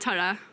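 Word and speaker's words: Turriff: Tura. You changed. Did you say Turif, first of all? The locals call it Tura. And what would the non-locals call it? Turif.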